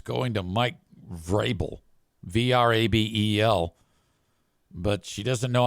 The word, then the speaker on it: Vrabel: whatever, just say, so the name is pronounced Vrabel, not Mike Verbal.